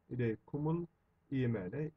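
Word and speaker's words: إليكم الإيمان: Normalde kum ancak devamında el olduğundan kumu gibi okunuyoruz. İleykum el imane şeklinde olacakken okunurken ileykumul diye okunuyor. İleykumul imane imanı size sevdirdi.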